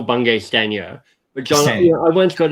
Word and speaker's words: Bungay Stanier: that welcome michael by ben k steiner my apologies well this is how i say my name sorry people know it's michael bungay stanier but jonathan i once